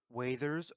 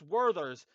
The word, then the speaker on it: Werther's: Oh, Waither's original. No, no, no, Ross, you Werther's, dare first of not, all. dare not say it like that. It's Werther's, and I'll tell you right now where I'll put those.